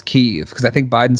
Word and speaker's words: Kyiv: It used to be Kiev, and now it's Kyiv, because I think Biden said it as Kyiv, and they were like, yeah, it's Kyiv now.